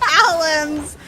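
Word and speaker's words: Alemz: now it says Almes, but on Wikipedia it's Alams. I swear, we're not trying to pronounce it wrong, but she totally changed it.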